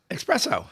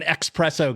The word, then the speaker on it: espresso: How do you say it? Espresso. Espresso. preso. Oh, I see that now. I knew you were an expresso guy.